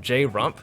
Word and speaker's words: Jrump: We have the guys from Jrump. How do you pronounce that, by Just the way? Jrump. Jrump. Yeah, the Just same Trump. way you say Trump, Yeah. but with a J.